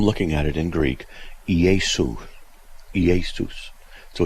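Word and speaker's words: Ἰησοῦς: Iesus. That's how it's really kind of pronounced.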